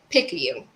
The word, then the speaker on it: Picayune: Picayune.